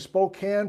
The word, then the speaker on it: Spokane: moses coulee for instance why is the swat cane have a long a and spokane pronounced with a short a i don't know bob